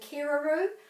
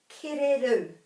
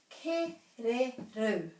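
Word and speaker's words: kererū: And the wood pigeon, the kereru, people might say keraru, or they might even pronounce the R correctly and say kereru, but this has got a bit of emphasis at the end, kereru, kereru, kereru.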